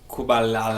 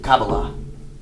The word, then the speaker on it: Kabbalah: Kubalala. Jewish mysticism. Hey, Anyways, doesn't fucking matter. The mystics of Judaism. Those are the practices of Kabbalah. Kubalala. Is that right? No, Kabbalah.